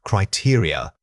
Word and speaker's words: criteria: The word is criteria. Say it again. Criteria. Many speakers struggle with the final unstressed vowels. Remember that this word has an important stress pattern starting on the second syllable.